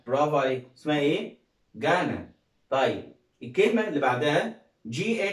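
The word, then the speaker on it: Ghana: طيب الكلمة اللي بعدها ها جي اتش اي ان اي، ها يبقى اسمها جانا. برافو عليك. اسمها ايه؟ جانا.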